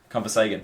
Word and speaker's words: ConversHagan: ConversHagan.